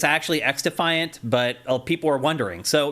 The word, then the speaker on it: xDefiant: Well, people are also confused on whether you actually pronounce it xDefiant or cross-defiant because the X in front of it is lowercase. Right. So I think it's actually xDefiant, but people are wondering.